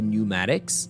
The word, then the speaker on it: pneumatics: When I say tires, I mean the tires and the pneumatics, okay? Pneumatics, I'm talking about the pneus. Pneumático in English is pneumatics. You don't pronounce the letter P at the beginning of it, all right?